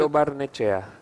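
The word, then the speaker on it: Lo Barnechea: How do you pronounce it? Lobarnechea.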